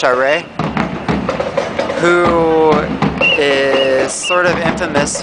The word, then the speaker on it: Charest: Whereas here in Quebec, the incumbent is someone, I believe his name is pronounced Charest, who is sort of infamous for working against the student protests or manifestations earlier this year.